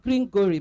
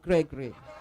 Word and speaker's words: Gregory: The way he pronounces his name, he said Gregory. Not Gringory, but Gregory.